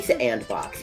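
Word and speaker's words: S&box: Well, because it is spelled S ampersand box.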